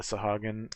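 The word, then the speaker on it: Sahuagin: uh have been here and then the telogen sahuenjin whatever however you pronounce it's a hagen thank you uh the sahagan um folk as well uh there is a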